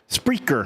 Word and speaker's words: Spreaker: You can find it at is it pronounced Spreaker? Spreaker.